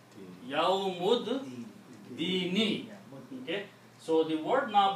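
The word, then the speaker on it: يَوْمِ الدِّينِ: Do not pronounce this alif here. And a yawmud, not ad, yawmud, dini, yawmud, dini.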